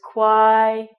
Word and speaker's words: quiet: So it's quiet. This word, shh, quiet, means don't talk. So this word you can break down as a QU sound, so qua, an I, and an it. Quiet.